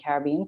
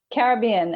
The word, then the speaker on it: Caribbean: I live in one of the most beautiful islands in the Caribbean called Barbados.